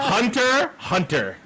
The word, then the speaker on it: Hunter x Hunter: No, it's Hunter Hunter. Thank you. No. X is silent. The X is silent.